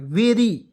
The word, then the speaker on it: very: यहाँ देखिए VERY, वेरी, बी से देखिए VERY क्या पढ़ेंगे, वेरी पढ़ते हैं, वेरी, बेरी नहीं, वेरी।